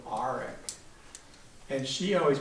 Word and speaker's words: Arick: Grandpa, this guy right here, he always said Grandma's name Arick, a very guttural Arick.